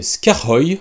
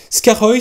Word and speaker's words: Skaarhoj: parler de la marque scar oeil alors ça s'écrit sk&a rh au logis scarole scarole moi je dis prononcé le comme vous voulez mais ce sera plus simple scar oeil c'est une marque qui